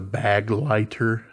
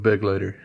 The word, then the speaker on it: Begleiter: I've seen a lot of people call it the Bagleiter, and I don't really think it's spelled that way, so yeah, I'm gonna go with Begleiter.